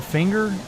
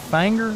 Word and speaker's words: Finger: I think you said finger. I think it's fanger. Fer. Kind of like Burr.